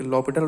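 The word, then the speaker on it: L'Hôpital: तो यार ये एल हॉपिटल रूल है क्या, जिसको हम लॉपिटल रूल भी कहते हैं, तो एल साइलेंट रहता है यहाँ पे।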